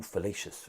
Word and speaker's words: fallacious: Ooh, fallacious rhymes with salacious.